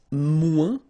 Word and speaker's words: moins: Then if you want to say less, it's moins in French. So no discussion about the S here. Don't pronounce it.